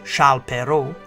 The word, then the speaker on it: Charles Perrault: This edition of Timeline presents Charles Perrault, Mother Goose Nursery Rhymes, and Brothers Grimm Fairy Tales. The birth of French author Charles Perrault, pronounced in French as Charles Perrault, is situated on the timeline in the 17th century in 1628.